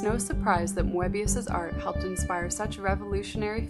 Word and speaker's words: Moebius: Or does she think it's Moebius? It's Mo as in Mo. Moebius.